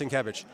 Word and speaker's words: Sienkiewicz: this beautiful cover was drawn by uh, Bill Sienkiewicz. Bill Sienkiewicz? Bill Sienkiewicz. I I can't pronounce that. All right, Sienkiewicz, all right. Trust me, his name his name is pronounced Sienkiewicz.